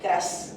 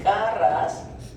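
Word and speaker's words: KRAS: Por eso no se dice eh cras o ras, ya se dice k ras, n ras y h ras.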